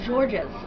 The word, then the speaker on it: Georges: not mispronouncing this name the reason his name is george's is because that's george in french they say atlantis um